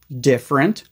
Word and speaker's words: different: first things first pronunciation all three of these words are usually pronounced as just two syllables differ different difference you do not